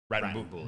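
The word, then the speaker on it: Wrattonbully: I love the name. Rattenbully. Rattenbully. Like WRATTON. Bully. Rattenbully.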